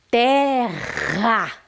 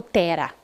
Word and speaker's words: terra: Só que eu não falo tera. Quando a palavra exige que seja forte, que a sílaba seja forte, eu coloco dois R's então. Porque eu não falo tera, eu falo terra.